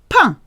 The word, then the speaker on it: pain: Pain. Sounds like bread. P-A-I-N. Pain. Sounds exactly the same whether you're saying pine or bread.